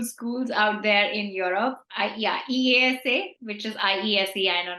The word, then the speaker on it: IESE: EASA, which is IESE. I know not many of us know how to pronounce it, but it's pronounced IESA, and INSEAD.